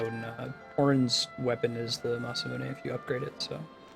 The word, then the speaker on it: Masamune: I mispronounced Masamune as Masamune when I was a kid, especially in like Chrono Trigger. That's my natural reaction to how to pronounce it. I think it's, since it's Japanese, you just pronounce every syllable, Masamune.